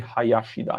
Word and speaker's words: Hayashida: It should be Hayashida if I want to pronounce it correctly.